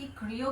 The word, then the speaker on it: Kreo: अब आप इसे क्रियो कह सकते हैं, रियो कह सकते हैं, आपको जो मन हो आप उसे वो कह सकते हैं प्रोनाउंसिएशन के हिसाब से।